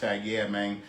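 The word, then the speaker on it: Yeamang: say hey man but it's like with it sounds like with a g so this is hashtag y e a m a n g um like i guess you say it like it is like yeah man so this would be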